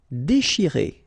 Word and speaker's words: déchirer: Déchirer, okay, C-N-H, sh, and after that you've got this I, chi. Déchirer, déchirer.